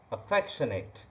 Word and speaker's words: affectionate: The word is affectionate. Listen to the pronunciation again. Affectionate. Affectionate. Knit, not Nate, it is knit.